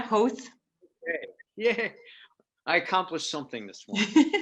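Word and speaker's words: Howth: i had was i i visited hoth am i pronouncing that correctly host you are yeah host i accomplished something this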